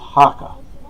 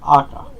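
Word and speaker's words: jaca: And the odd thing is, it's spelled with an H, not a J, but it's pronounced Hakka, not Akka, and it means pony or small horse.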